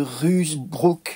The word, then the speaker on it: Ruysbroeck: Jan van Ruysbroek, Jean de Ruysbroek, probablement prononcé à la française.